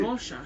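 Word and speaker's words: Rorschach: as R what do you how do you pronounce it rash okay there you've got it thanks rash uh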